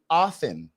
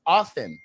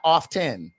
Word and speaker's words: often: didn't get a degree the t is silent so it's really often if you look at the Fanatics it's often not often so yes I just